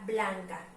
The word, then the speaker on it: blanca: vamos a identificar aquí tenemos la palabra blanca vamos a pronunciarla para poder saber si está aguda grave o estructura blanca blanca como podemos escuchar nuestra sílaba tónica nuestras inhala fuerte se escucha está blanco por lo tanto esta es una palabra grave ok de tal manera